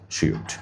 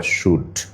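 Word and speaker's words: shrewd: সুন্দর করে একটু খাতা নিয়ে লিখে রাখো অ্যাস্টিউট, শ্রিউড বা শ্রুড, উচ্চারণ কিন্তু শ্রিউড অথবা শুড।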